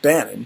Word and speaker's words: Bannon: It is pronounced Bannon, correct?